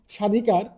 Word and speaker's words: স্বাধিকার: 1 নম্বর যে নিয়মটা সেটি হচ্ছে আদ্য ব্যঞ্জন বর্ণ ব ফলা যুক্ত হলে, মানে শব্দের শুরুতে যদি কোনো ব্যঞ্জন বর্ণ থাকে এবং এর সাথে যদি কোনো ব ফলা যুক্ত থাকে, তাহলে সাধারণত সেই ব ফলার কোনো উচ্চারণ হয় না।